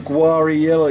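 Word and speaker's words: Guarriello: ] knows everything he can't even pronounce to Tom's name it's Tom guarello you stupid [ __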